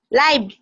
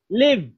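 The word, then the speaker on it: live: তারপরে লাইভ, নো নো, ই তো, আই, আই তো এখানে নাই, ই, লিভ। লাইভ বললে তো আই হয়ে গেল, উচ্চারণটা হচ্ছে ই। আমি তো বলি না যে আই, ই, লিভ।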